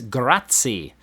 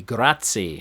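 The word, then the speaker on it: grazie: do you say Thank you in Italian that's gratti g r a z i e gratti number one number two what type of job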